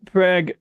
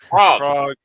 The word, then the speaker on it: Prague: you're here you're you're near prag prag I'm sorry how do you say that again prag Prague Prague okay so you you're near